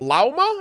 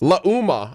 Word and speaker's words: Lauma: Her name is Llama. I think that's how you say that. L A U M A. I'm terrible at pronouncing words and names, so I don't I don't know how that's supposed to be pronounced. Luma. Okay, that sounds a little bit more appropriate.